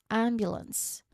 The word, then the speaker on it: ambulance: Next, ambulance. The ambulance arrived just in time to just in time to help him. The ambulance arrived. There's no T sound at the end.